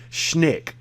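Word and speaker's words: Schenck: Robert is the common spelling, R-O-B-E-R-T, R-O-B-E-R-T, Robert Leonard, L-E-O-N-A-R-D, Schneck. It's how it's pronounced, S-C-H-E-N-C-K, S-C-H-E-N-C-K.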